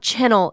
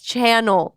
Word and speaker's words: channel: Josh, it's not channel, it's channel.